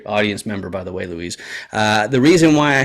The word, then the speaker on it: Luis: you usually pronounce it Louise or how do you usually pronounce your name however much better to you but usually it's Luis Luis okay great awesome